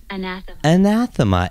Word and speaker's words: anathema: Anathema.